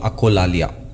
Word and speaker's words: echolalia: It's called acholalia. And I could be wrong in pronouncing it. It is Echolalia. Echolalia or acholalia. I leave it to you.